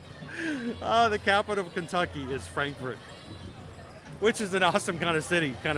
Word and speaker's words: Frankfort: of kentucky yeah you're right it's actually pronounced frankfurt the capital of kentucky is frankfort which is an awesome kind of city kind